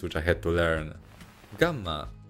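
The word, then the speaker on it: γάμμα: i had to learn gamma nowadays it is pronounced more like a devoiced g like amma delta in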